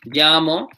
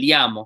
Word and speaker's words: llamo: different per region um the way I say it is a little bit more like a je and Y combination like made llamo some places will say